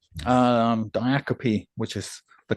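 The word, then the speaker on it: diacope: Well, I wanted to share one called Diiacopy. Um Diiacopy, which is the correct pronunciation.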